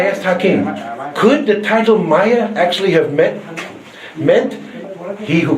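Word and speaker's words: ماية: It is not pronounced the same way in any other Arabic country. If you went to Saudi Arabia, they would say Ma or Meh. Only in Egypt is it pronounced Maya.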